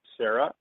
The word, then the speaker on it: Saira: So today's special guest is Saira. She is, and it's pronounced Sarah, even though it's spelled S-A-I-R-A.